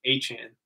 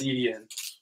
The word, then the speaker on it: Etienne: He's like, it's actually Achan. Really? No, I'm not going to say that. You are Travis Etienne. Is it like Achan? A-Y-C-H-A-N is how he says he pronounces it.